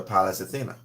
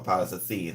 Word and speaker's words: Pallas Athena: Is your Pallas Athena, or Pallas Athene, how people would pronounce it.